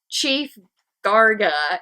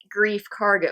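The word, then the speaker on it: Greef Karga: I keep transposing my C and G. I have no clue because why I want to say Chief Garga, not Grief Karga.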